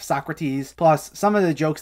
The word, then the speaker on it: Socrates: this blank stare and they mispronounce people's names like beet oven instead of beethoven or soakrates instead of socrates plus some of the